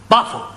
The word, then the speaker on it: buffalo: Words that end in O, like buffalo or radio or vertigo, you pronounce the O, but where there is no O, you don't add one, understand?